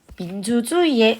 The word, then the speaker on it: 민주주의의: 자, 그리고 민주주의의 의 도대체 몇 개일까?